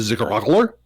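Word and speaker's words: Zigg'raugl'urr'r: way to pronounce that you need to choke on your own tongue a little bit as it gets towards the end and if you're not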